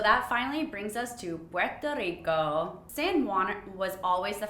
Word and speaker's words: Puerto Rico: the puerto ricans say it's not porto rico it's puerto rico but my accent sucks so i'm trying you